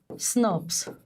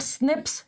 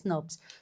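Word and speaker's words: snRNP: ribboucle proteins and these are pronounced used as snurps. Okay, not snips. You call them as snubs. Small nuclear ribboucle proteins pronounced as snurps.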